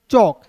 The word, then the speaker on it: chalk: ठीक है, उसके बाद देखिए यहाँ पे CHALK, तो चालक नहीं पढ़ेंगे, इसे पढ़ेंगे चौक, CH का च। ठीक है, ए है तो इसको अ के रूप में, के है तो क, चौक हो जाएगा, इसे एल इसमें साइलेंट कीजिएगा दोस्तों, हो जाएगा दोस्तों चौक।